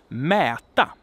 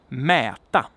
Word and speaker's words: mäta: a long syllable, but either the consonant is short and the vowel is long, or the vowel is short and the consonant is long. And I have an example here to so that you can hear what this is about. So we have, for instance, mäta, which means to measure, mäta.